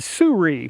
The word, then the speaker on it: Sirui: talk about today is the Surrey yeah that's how you say it it's spelled s-i-r-u-i and this Express one